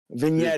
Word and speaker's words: vignetting: Vignetting. The G is silent.